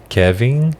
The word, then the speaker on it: Kevin: o pedro e o kevin kiner em kevin kevin inglesa kevin e nós temos a tendência em português de colocar é pronunciar o enem como m hum kevin kevin